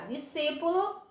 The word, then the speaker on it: discípulo: Discípulo, já discípulo é discípulo, eu não digo dias, depois discípulo. Posso até pronunciar, mas quando sai rapidamente é discípulo, como se tivesse o som só do si.